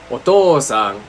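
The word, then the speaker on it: お父さん: So for example, otou-san is otou-sa. Otou-san. But we just use the u even though it's pronounced as a long o.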